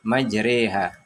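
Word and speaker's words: مجراها: pada pertengahan Ayat tersebut terdapat lafadz majreha atau majroha dalam bacanya majroha wafatnya yang dibaca imalah menjadi majreha Bismillahirohmanirohim Hai waqolarkabu PH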